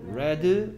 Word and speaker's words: read: 근데 얘는 얘이 부분의 발음이 달라집니다. read, red, red입니다. read, red, red.